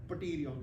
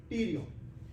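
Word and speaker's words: pterion: T is silent, we don't speak pterygon, no, Tyrion.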